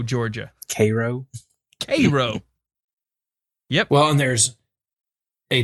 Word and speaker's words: Cairo: We don't call it Cairo. That's Cairo, Georgia. Cairo. Yep. Well, and there's a town that is spelled just like Auburn, Alabama.